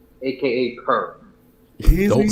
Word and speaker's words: PER: All right, AD right now is number one in PER, aka per. Don't Easy. say it like that, bro. It's an abbreviation, man. PER. Grown men is not supposed to say per.